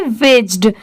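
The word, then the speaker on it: wedged: विज्ड। यहां पर D silent है इसलिए डब्ल्यू ई जी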